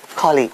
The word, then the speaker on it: colleague: which is a co-worker the stress is on the first syllable so we say colleague my colleague is ill